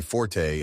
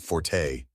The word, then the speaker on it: forte: musical notation meaning loud the English word Forte meaning area of strength is just pronounced Fort Story 80 it is